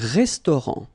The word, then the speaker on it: restaurant: Final T not pronounced. Un restaurant.